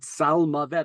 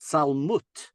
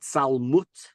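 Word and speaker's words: צלמות: Interestingly, this word salmavet earlier in the verse, gam kelech begeit salmavet, really should probably be pronounced salmut, like malchut.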